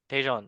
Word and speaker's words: Tajon: Tejan. Tajon.